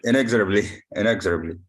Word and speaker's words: inexorably: remember the first one arising inexorable in yeah pronunciation's really hard inexorably inexorably that's correct that's correct so inexorably yeah yeah